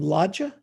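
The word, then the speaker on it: Lajja: legit as how do you say your name logia l-a-j-j-a it's short for la jasila la sheila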